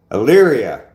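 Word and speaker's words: Elyria: Uh El I I never can say that. Yria, that's what it that's how it's pronounced.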